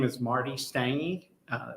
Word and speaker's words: Stange: begin with yes yeah my name is marty stange uh it's spelled m-a-r-t-y s-t-a-n-g-e and uh just a little